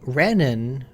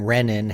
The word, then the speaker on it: renin: Now, renin is a hormone that comes from the kidneys. The name renin has as its root reen as in renal and probably should be pronounced renin, but most people pronounce it renin.